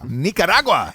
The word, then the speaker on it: Nicaragua: Don't speed the pronunciation on that. You need a little accent on it. Yeah. to make it Nicaragua. Nicaragua.